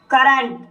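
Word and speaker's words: current: करंट, करंट शब्द में सी के बाद यू आया है और इसलिए यहाँ पर सी का उच्चारण का होगा, इसलिए इसे करंट पढ़ा जाता है।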